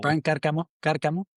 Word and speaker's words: Briant Carcamo: Okay, I say it right. Brian or Bryant and Yeah, Carcamo. Briant Carcamo. That's right.